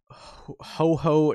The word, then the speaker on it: houhou: this list on uh ho ho news i believe it's pronounced uh h-o-u-h-o-u news i believe it's supposed to be pronounced similar to ho-oh the pokemon um so i'll link